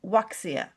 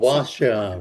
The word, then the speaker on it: Wuxia: Crossworlds fantasy, steampunk fantasy, Arthurian fantasy, sci-fi fantasy, and Wuxia fantasy. Wuxia. What's Wuxia? Yes, Wuxia is in fact rooted in classic Chinese literature and involves elements of fantasy interspersed with martial arts. So Oh, Jade, Wuxia, right, yes.